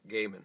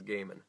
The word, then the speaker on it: Gaiman: No one knows how to pronounce Gaiman until you hear someone else say it. It's right, I had to look it up. Gaiman. It is Gaiman.